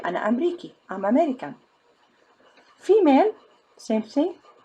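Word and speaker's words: أمريكي: Ana Amriki. If I'm a male, I say Ana Amriki.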